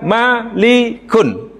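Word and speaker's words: مَلِك: apa tuh ini mulkun Ini bacanya mulku kalau ini namanya maliku maliku kalau ini milku baris Malaka sama kan daripada kalimat mimlamkap boleh dibaca mulkun apa tadi kekuasaan boleh dibaca malikun raja malikun Raja boleh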